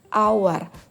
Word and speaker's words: hour: Nah di sini our Huruf pertamanya itu tulisannya memang huruf konsonan tapi bunyi Huruf pertamanya ketika diucapkan itu adalah huruf vokal our bukan H makanya kita menggunakan artikel